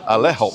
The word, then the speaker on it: Ale-Hop: ALE-HOP. I just say alley-up. Alley-up. That's what I say. But I've heard people say ale hop. Yeah. And alley hop.